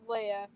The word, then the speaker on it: Leia: A lot of people say it wrong, but it's Leia, and they also spell it wrong.